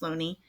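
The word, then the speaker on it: Looney: since 1920 when an English scholar Thomas Sweeney pronounced Loney first brought it before the world none of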